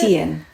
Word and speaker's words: Tien: And Tien, how do you pronounce it? Tien.